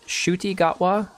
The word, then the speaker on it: Ncuti Gatwa: in fact before uh I believe his name is actually pronounced shuy gwa I've been saying and couti in the past but I believe it's shuti so we're just going to